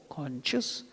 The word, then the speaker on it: conch: Therefore, conches, kettle drums, bugles, trumpets and horns suddenly blared forth, and their combined sound was overwhelming. That's the simple meaning. Now, C-O-N-C-H-E-S. Some people pronounce it as conch, C-O-N-C-H, conch.